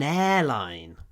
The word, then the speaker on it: airline: Авиакомпания это будет an airline. Lufthansa is my favorite airline. Ударение на первом слоге airline. Сильнее, line. Слабее. Airline.